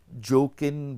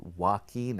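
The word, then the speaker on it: Joaquin: अब वो जोकिन बोल रही थी, अब हालांकि उसकी करेक्ट प्रोनाउंसिएशन वाकीन है।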